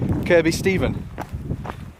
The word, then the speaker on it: Kirkby Stephen: she's out running at Kirby Steven see that place is another you know we're talking about pronunciation of the day it's spelt Kirkby Stephen and there's a place